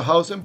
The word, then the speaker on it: Huijsen: Empezaremos a llamarlo Howson porque él mismo indicaba que es así que se pronuncia su apellido.